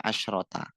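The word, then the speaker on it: عشرة: Kalau dia tidak diakhiri tak bacanya asyaro. Kalau tidak diakhiri kalau diakhiri tak bacanya asyrota. Asyaro sama asyrota.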